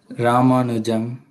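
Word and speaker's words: Ramanujan: R ramanu yeah how do you say Raman ramanu Jam ramanu Jam so is was this guy tammo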